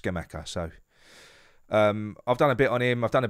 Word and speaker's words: Scamacca: on schema i'm gonna i'm gonna start calling him skimaka now because i've been calling him schumacher and he's he's he's not he's not it's uh he's pronounced scamacker so um i've done